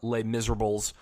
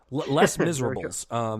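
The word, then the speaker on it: Les Misérables: I take that back I never saw leh miserable or les miserables Les Miserables that is how you pronounce it the the white male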